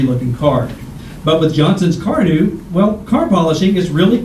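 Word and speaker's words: Carnu: with quick polishing Johnson's Car New this week? Car New is spelled C-A-R-N-U.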